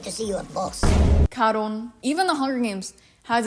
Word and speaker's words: Charon: Can you imagine just Charon is the Greek pronunciation. Cabron, Cabron, I need to see you at boss. Karon.